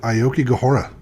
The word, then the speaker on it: Aokigahara: see that don't you haven't you heard of that one dj steve aoki yes half of the word right there that's true